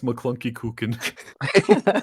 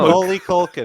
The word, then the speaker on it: Macaulay Culkin: since McClunky Cookin. Yeah, that one really threw us. How do you say his name? No. Macaulay Culkin.